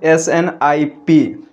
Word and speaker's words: SNP: Okay, इसको pronounced किया जाता है स्नाइप करके। ठीक है, SNIP।